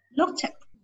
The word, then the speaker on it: looked: Ca là nằm trong cái trường hợp thứ hai á, chữ tờ. Looked.